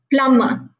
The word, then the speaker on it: plumber: a plumber plumber plumber make sure when you pronounce plumber be silence even though there is piece of lumber it's plumber right so be clear with